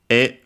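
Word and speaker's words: へ: And then we add the particle e written as he but pronounced as e which means uh uh to as in the direction then it is repeated.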